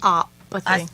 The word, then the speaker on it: osteopathy: And the- Osteopathy.